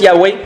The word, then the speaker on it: Yahweh: Yahvé, on le prononce Yahvé, Yahweh, les Hébreux le prononcent plus Yahweh, qui veut dire « Je suis ».